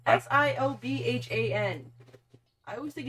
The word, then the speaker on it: Siobhan: Do you know how that name is spelled? S-I-O-B-H-A-N.